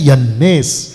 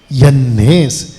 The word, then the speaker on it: यन्नेस: और जैसे यन्नेस और यम्ब्रेस, ओके, इसका प्रोनाउंसिएशन है यन्नेस, यन्नेस।